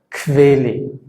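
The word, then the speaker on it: Quelle: Y cuando se hace esta combinación QU, la tendencia es que pronunciamos un sonido como si fuera una K y una V, y se pronuncia kve, kvele, kvele. O, por ejemplo, aquarium, aquarium. ¿Sí? No suena la U, kve, aqua, kvele, aquarium.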